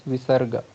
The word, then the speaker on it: visarga: nose only, aha, and that other one is called as visarga. That is a sound like ha, it comes from throat, ha, like that.